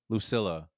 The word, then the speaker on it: Lucilla: Lucilla.